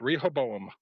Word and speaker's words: Rehoboam: before I start butchering the term the word Rehoboam how do i how am I supposed to be pronouncing this without sounding like some kind of book from Boston well that was pretty close Rehoboam is Lee correct rape yeah re Rehoboam okay